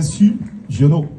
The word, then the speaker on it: Sugiono: C'est bien Su Giono? Oui. J'ai bien prononcé.